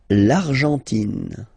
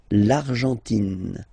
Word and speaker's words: Argentine: L'Argentine. Okay, so you've got this nasal here, en, l'argent, and then tin. Don't pronounce the final it just gives you the pronunciation of the N, in. L'Argentine. L'Argentine.